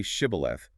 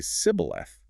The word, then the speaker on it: shibboleth: The Ephraimites had a linguistic quirk that made it physically impossible for them to pronounce the shif sound. Oh, wow. Yeah. So when commanded to say shibboleth, they would inevitably say sibboleth. That tiny slip of the tongue, a single missed consonant, revealed their true identity.